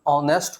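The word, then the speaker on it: honest: इसका pronunciation ऑनेस्ट होता है जो अ से शुरू हो रहा है, और अ क्या होता है, एक ववेल साउंड होता है।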